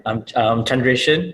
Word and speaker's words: Chandreshan: I'm not like a Marvel superhero or whatnot, but I'm Chandreshan. Everybody calls me Chan because it just easy for them to pronounce it that way.